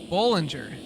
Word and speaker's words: Ballinger: it's Dylan Binger wait now how do I say it Ballinger yeah like a bowl Kevin says Ballinger I